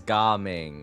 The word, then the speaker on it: Gaming: I don't know why his son's name is Gaming. Yeah, that's how it's pronounced, but it does look like gaming, doesn't it?